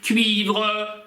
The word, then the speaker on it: cuivre: Cuivre, такую южно-французскую на юге Франции любят добавлять, можете добавить cuivre.